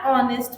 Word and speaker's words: honest: And when H is coming with O, so H is silent. An argo, an honest man.